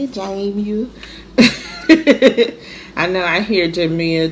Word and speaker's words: Jamie: That's how you say it, Jamie. I know I hear Jamia, Jemiah, all of the things, but it's pronounced Jamia, and some of my family call me Jamie.